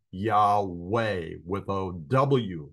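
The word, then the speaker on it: Yahweh: proper pronunciation of the VAV and I would pronounce it y ve with a V uh sound and I don't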